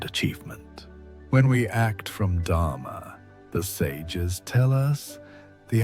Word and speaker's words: dharma: The ancient principle behind this transformation is called dharma, pronounced dharma. Dharma is often translated as duty or righteousness, but it's more accurately understood as aligned action.